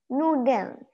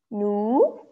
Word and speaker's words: Nudeln: Nudeln. Nudeln. Nudeln. Just don't pronounce the lin out so obviously.